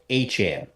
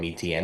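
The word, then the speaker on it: Etienne: from what he said his name is supposedly pronounced achan I might still I'm probably still going to end up calling him ETN that's just you know it's easier um it's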